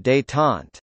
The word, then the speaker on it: détente: Détente, French pronunciation, détente, meaning relaxation, is the easing of strained relations, especially in a political situation, through verbal communication.